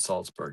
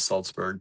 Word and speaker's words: Salzburg: Marianne says, I think Austria when you think Salzburg, or is it Salzburg? It's the second one. It is spelled the second way, and it is Salzburg, Pennsylvania.